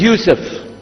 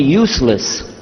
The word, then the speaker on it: Yusuf: back so i'm gonna go my name is yusuf he say used of michigan very good I wish you teach my wife she keeps mispronouncing it she calls me useless home delay now how many of you were